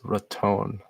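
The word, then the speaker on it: Raton: those are normal temperatures some people mispronounce this as rattin but it's ratton so these little bits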